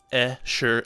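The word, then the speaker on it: Escharum: figure all that out how do you pronounce esheram was the next question and he says er sure um there it is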